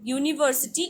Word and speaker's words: university: university starts with the vowel u but no university is pronounced like university like y o u u